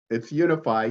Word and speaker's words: UniFi: Did I pronounce this properly? It's UniFi, yeah.